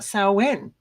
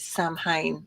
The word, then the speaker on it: Samhain: things so it's really lovely to talking about saen which I've been practicing all day s s s because most people do pronounce it samh and of course it's not it's s um